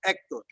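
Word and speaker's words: Héctor: You pronounced it with an H in English, but not in Spanish. So Hector.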